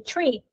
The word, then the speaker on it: tree: five is five or three is actually tree so if you are